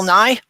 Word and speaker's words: Nye: bill nye's two was bill nye is dry that's why nye is dry you know it rhymes yeah um but i